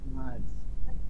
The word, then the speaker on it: March: জানুয়ারি না জানুয়ারি January, January, ফেব্রুয়ারি February, মার্চ March, March, আমরা তো এটা মার্চ বলি মার্চ বলে